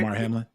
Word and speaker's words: Damar Hamlin: Damar Hamlin.